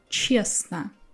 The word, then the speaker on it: честно: Or честно. Here I'm skipping t.